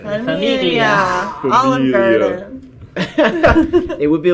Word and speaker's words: familia: Familia. Familia.